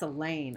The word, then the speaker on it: Elaine: That's Elaine, I reply. Rhymes with pain.